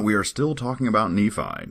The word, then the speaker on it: Nephi: And one consistent theme is that it's definitely Nephi, so we've solved that riddle. Not Nephi, like I thought maybe originally. Definitely Nephi.